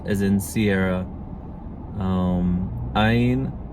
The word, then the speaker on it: ע: Áyin, it could be any vowel sound, basically. It's, in modern pronunciation, just guttural stop, so so áyin.